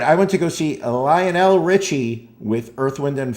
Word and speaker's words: Lionel: I And by the way, he pronounces it Lionel. I would I've little did I know I spent my whole life calling it Lionel Richie. He is Lionel Richie.